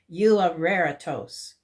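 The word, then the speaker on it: εὐάρεστος: This one is pronounced euareritos, which means well-pleasing.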